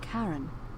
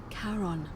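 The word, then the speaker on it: Charon: is a little off the name you heard wasn't Karen it was c h a r o n as in karon the Fairman of the Dead karon who in exchange for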